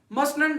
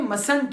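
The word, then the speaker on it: mustn't: अब इस लफ्ज में यहां पे हमारे पास टी क्या है, साइलेंट है। टी मसंट, मसनंट नहीं है, मसंट है, मसंट।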